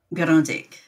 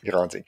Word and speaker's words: Grande Digue: You are from Grandig. Grandig. And how do you spell that?